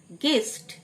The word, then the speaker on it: guest: গেস্ট, GUEST you silent, গেস্ট মানে অতিথি।